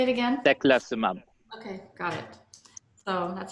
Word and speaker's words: Teclistamab: Teclistamab.